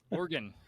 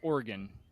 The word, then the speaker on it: Oregon: uh uh no uh Oregon so like the instrument yeah or the bodily part yep I'm an organ